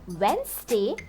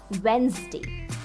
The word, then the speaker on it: Wednesday: Many English speakers pronounce it as Wednesday or Wednesday. However, the correct pronunciation is Wednesday.